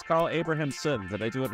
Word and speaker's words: Carl Abrahamsson: we got Carl I'm going to say your name wrong it's Carl abrahamson did I do it right hey it right